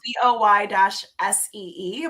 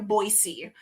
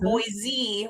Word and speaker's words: Boise: So, it's pronounced b-o-i-s-e, Boise. If you say Boise, we know you're not from here.